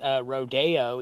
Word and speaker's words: Rodeo: the street in la that's Rodeo even though it's spelled rodeo I feel like that's just a branding issue it really I think